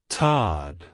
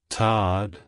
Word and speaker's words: Todd: dialect it's pronounced as Todd Todd Todd to pronounce it correctly emphasize the a sound in the first syllable and the D sound at the end avoid making the oh sound too strong like hello Todd goodbye